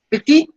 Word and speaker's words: petit: La petite amie means the girlfriend. So petite is masculine.